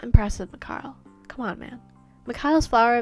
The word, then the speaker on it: Mikhail: It's Mikhail, I have learned, not Mikhail. I'm sorry, guys. I mispronounced his name in my first video. I said Mikhail, but it's actually Mikhail, like Mick and Kyle together, apparently.